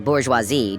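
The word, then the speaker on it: bourgeoisie: But one day, she picked on me for mispronouncing bourgeoisi during a reading assignment.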